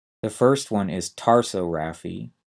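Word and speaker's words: tarsorrhaphy: tricky because of spelling the first one is taro Rafi t a r s o RR a py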